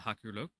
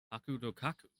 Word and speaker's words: Hakurokaku: I return to the Hakuroku. Name so hard, so many syllables. Hakurokaku. I always forget the ka in there.